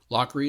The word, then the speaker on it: Lochrey: Lockery is spelled Lochrey.